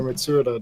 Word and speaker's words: Mitsuda: Would it make you feel better if I told you Yasunori Mitsuda did the music for it?